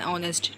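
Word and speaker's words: honest: बट कुछ exceptional case इसमें भी होते हैं, जैसे an honour, N आर, एन ऑनेस्ट, ठीक है। तो यहाँ पे ओ से वर्ड लग रहे हैं, एच साइलेंट है, तो इसलिए यहाँ पे मतलब यहाँ पे एन का यूज़ हुआ है।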